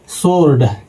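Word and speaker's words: sword: तो इसका पहला नियम है दोस्तों जब डब्ल्यू से पहले एस आए तो डब्ल्यू साइलेंट रहता है। यानी कि कोई भी वर्ड में दोस्तों डब्ल्यू आ जाए और डब्ल्यू से पहले एस आ जाए तो उसमें जो है दोस्तों कि डब्ल्यू जो है साइलेंट हो जाएगा। जैसे ये लिखा है दोस्तों सोर्ड तो इसमें दोस्तों डब्ल्यू से पहले एस आ गया है और डब्ल्यू से पहले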